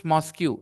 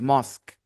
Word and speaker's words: mosque: has the highest mosque don't pronounce mosu it is mosque it has the highest